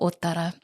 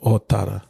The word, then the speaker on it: Ōtara: So yeah, Ōtara or Te Pokeo Ōtara. Or It's over 20 episodes. Someone asked me on the comments, it's like, oh, okay, I will pronounce it correctly. So, Ōtara.